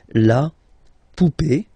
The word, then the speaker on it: poupée: and then here, okay, remember this final is not pronounced, so you will have this e, remember accent aigu, it's e sound, okay, la poupée, the doll, l'arrivée, the